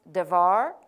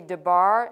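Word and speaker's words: דבר: probably in another lesson should be pronounced devar I may say debar in fact on my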